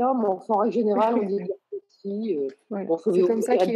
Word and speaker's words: Edgar Cayce: Edgar Cayce parce que c'est simplement la prononciation avec l'accent américain. Donc, voilà, on dit Cayce ou pas l'accent américain, mais en règle générale, on dit Edgar Cayce.